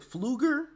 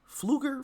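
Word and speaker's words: Pfluger: uh Mr is it fluger fluger from Texas I believe that's how you pronounce his name is PF -l-u-g-e-r fluger I'm assuming the p is silent but as he was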